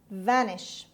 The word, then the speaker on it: vanish: of today's lesson vanish vanish vanish the stress is on the first syllable it means disappear or